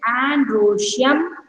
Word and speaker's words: androecium: You learn the pronunciation. It is androecium, gynosium.